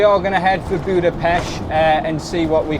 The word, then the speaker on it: Budapest: going to head for Budapesh uh and see what we can explore there. Although it is getting quite dark. So, you said Budapesh. Yes, it's it's basically got a silent T.